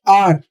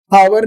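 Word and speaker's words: hour: यूज हुआ है और आर इसको हम प्रोनाउंस क्या करते हैं आवर नहीं पढ़ते इसे हम एच नहीं पढ़ेंगे ए साइलेंट होता है आर तो आप बोलेंगे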